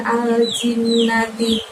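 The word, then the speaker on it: الْجِنَّةِ: Kemudian al-jinnati, ada nun tasydid lagi, bacaan guna lagi, jadi jin, tahan selama 2 harokat baru bunyi nah. Minal jin, minal jinnati, gitu ya.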